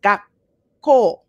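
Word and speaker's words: 学校: So you pause first. Gakko. Gakko. Okay, so there's a little like click almost in there, as opposed to gakko.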